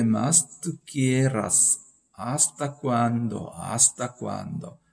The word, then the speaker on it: hasta: ¿Hasta cuándo? hasta 하지 마시고 hasta. H는 묵음이 되겠습니다.